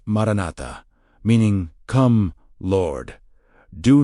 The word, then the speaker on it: maranatha: Pronounced maranatha, meaning come, Lord.